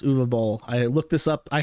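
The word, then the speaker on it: Uwe Boll: announces that he is going to be fighting U ball what does that mean u b German film director very word name spelled UAB Bal but it's actually pronounced uall I looked this up I had the the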